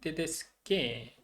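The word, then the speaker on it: tedesche: 넣어주면 된다라고 보시면 되겠고 테데스카, 테데스케 복수로 만났을 때 에로 바뀌었는데 C 그다음에 C하고 E하고 이렇게 만나니까 체 발음이 됐거든요. 그래서 걔를 또 그냥 센 발음으로 발음해 주기 위해서 아까를 또 넣어줬다. H.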